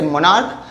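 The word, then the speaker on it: monarch: और अगर CH का प्रोनाउंसिएशन क हो तो हम लोग यहाँ पर सिर्फ और सिर्फ S लगाएंगे, सेम वर्ड होगा, लास्ट में सिर्फ S जाके लग जाएगा, जैसे मोनार्क, मोनार्क्स, ठीक है।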